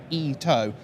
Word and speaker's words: Ito: Now, Koei Ito, and thanks very much to my friend Devin on Twitter, who's been correcting my Japanese pronunciation. It is apparently Ito, and I'll try and learn a few more as we go.